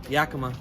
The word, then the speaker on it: Yakima: Yeah, Yakima.